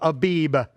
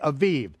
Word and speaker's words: Aviv: say the month of Abib. Okay, I don't care whether you pronounce it with the vet or the bet. It really doesn't matter. Jews today pronounce it with the vet, okay? Aviv.